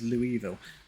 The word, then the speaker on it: Louisville: By the way, St. Louis is pronounced St. Louis, but Louisville is Louisville.